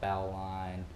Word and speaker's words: bowline: how to tie a bowling or bow line or it has tons of different pronunciations I have a really southern accent so I tend to call it a bowling um basically a bowling